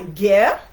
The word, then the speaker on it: ger: This is called a ger. It's spelled G-E-R, and that's the Mongolian one.